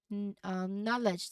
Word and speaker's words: knowledge: So this is knowledge. The silent letter is K.